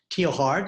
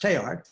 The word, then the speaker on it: Teilhard: So those of you who don't know this, Teilhard, his name is spelled Teilhard, but it's French, so it's not pronounced Teilhard, it's pronounced Teilhard, and that's half of his second name.